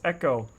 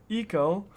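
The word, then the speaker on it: Ecko: glass case and, uh, it's echo. Echo. Uh, and it's spelled E C KO. And he needs to put a sign here. Uh, he'll put a sign back. We'll put a sign up that says it's Echo, not Eco.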